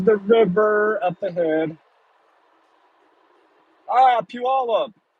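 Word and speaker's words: Pe Ell: river up ahead ah PE Alla and some of you in the chat are going huh yes that's how you that's how you pronounce that PE all up I got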